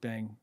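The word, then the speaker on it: bhang: the drink that they make on the the pronounce bang bang b b h a n g yeah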